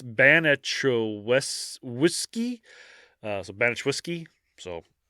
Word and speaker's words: Baniszewski: four different ways so I'm just going to call it beneski so okay it's like it's ban whiskey uh so banet whiskey